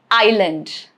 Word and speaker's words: island: It is silent before letter L. Example, island, isle, isle, yet again.